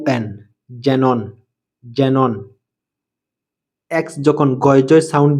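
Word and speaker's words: xenon: এক্স জেরক্স জেরক্স এক্স ই এন ও এন জেনন জেনন এক্স যখন গয়জয় sound দিয়ে থাকে সাধারণত যখন এক্স এর পরে একটি জোর দেওয়া ভাওয়েল আসে।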